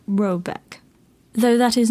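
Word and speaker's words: Råbäck: The mana house or hairard in question is to be called rabac pronounced something like robeck though that is not its name.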